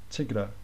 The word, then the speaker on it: Tigra: And if we look at this T-I-G-R, when you pronounce that, you kind of get the A anyway, when you pronounce this R, Tigra.